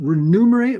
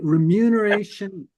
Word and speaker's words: remuneration: Um, I understanded it things will from the how do you say it? renumerate remuneration the committee remuneration the